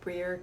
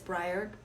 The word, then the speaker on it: Bryr: isabel from briar cloggs i have mispronounced before breer clogs before so it's briar cloggs they're based out